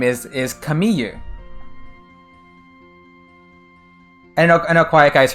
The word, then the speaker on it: Camille: a French name because the French pronunciation of c-a-m-i-l-l-e is like Kami they don't say they don't say l it's like it's like a y sort of sound so her Japanese name